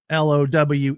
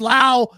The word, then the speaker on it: Lowe: One is pronounced Lao, one is pronounced low.